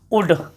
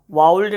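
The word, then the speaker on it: would: और देखोगे आपको ये सब शब्द तो सुने होगे आप, कुड, शुड, उड। इसको काउल्ड नहीं पढ़ना, शाउल्ड नहीं पढ़ना, वाउल्ड नहीं पढ़ना, इसको पढ़ोगे कुड, इसको शुड, और इसको उड।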